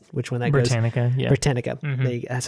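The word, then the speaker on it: Britannica: don't know how which one that goes branica britanica that's how you say it so just um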